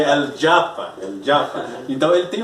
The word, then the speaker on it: El Japa: Eu pronuncio El Japa, mas ele quer que eu pronuncie El Japa.